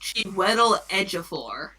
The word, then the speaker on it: Chiwetel Ejiofor: It's pronounced Chiwetel Ejiofor.